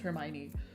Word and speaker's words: Hermione: hell are you supposed to know that it's pronounced Hermione I have to go now bye everyone have